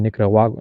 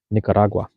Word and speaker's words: Nicaragua: Hecho en Nicaragua. Nicaragua. Nicaragua. Am I saying that right? Nicaragua. You gotta say it like Spanish type shit, and then it's gonna flow.